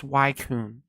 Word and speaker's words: Suicune: do you pronounce suicune anyways um it's obviously pronounced swaycoon but yeah basically um Arceus is essentially poke